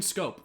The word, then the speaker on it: Schoop: him is his speed Jonathan Schoop aka Jonathan scope the real way to pronounce his name I think Jonathan scopes